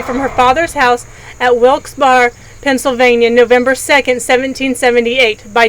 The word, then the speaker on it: Wilkes-Barre: until September 21st 1837 there are various ways to pronounce the town in Pennsylvania one of them is wilkes-barre and other ones wilkes-barre it can be pronounced looks very if it's the last word is French it could be Volks beret you never know on the final side